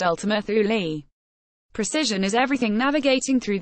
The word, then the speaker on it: Ultima Thule: investigate a celestial object called Eltham earth will pronounced Ultima Thule precision is everything navigating through this deathtrap wasn